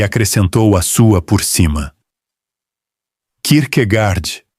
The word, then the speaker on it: Kierkegaard: A sílaba final em dinamarquês é escura, arredondada, quase engolida, com aquele travamento na glote que a língua tem e quase nenhuma outra na Europa tem. O inglês ouviu ali um gard, que não é